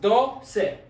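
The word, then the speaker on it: doce: of the ending c e this one is pronounced do se so i was like the number two in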